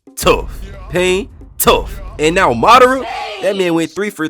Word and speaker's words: Madara: It is pronounced Madara.